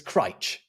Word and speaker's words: Crich: It's Crich. Crite. Yeah, Okay. yeah. If you pronounce it any other way, you ain't from around here.